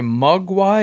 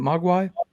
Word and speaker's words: Mogwai: 9 is published by mug why is that how you say it Mogwai Mogwai but they are they're